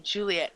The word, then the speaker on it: Juliet: Nicole says her name is pronounced Juliet, as in Romeo and Juliet.